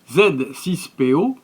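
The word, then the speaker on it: Z-6PO: les détails de l'environnement z6po dans sa prononciation française est un robot anthropomorphe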